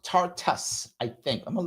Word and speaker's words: Tartus: Yes, it's Tartus Port. So the name of the place is Tartus. The name of the port is Tartus, I guess. It's Tartous.